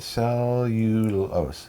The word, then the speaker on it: Cellulose: it's celios nice pronounced right cellulose cellulose there you go it's got to